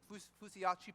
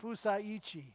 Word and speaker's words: Fusaichi: also what is that Fusiachi Pegasus? Did I say that correctly? Former Kentucky Derby winner, close enough. Close enough. How do How do you say that? Fusaichi. Fusaichi Pegasus.